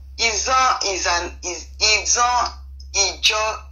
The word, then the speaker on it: Izon: Izon is the white people. It was when the white people came. They pronounce it as Ijaw. In the white man pronunciation is Ijaw, but the real pronunciation is Izon.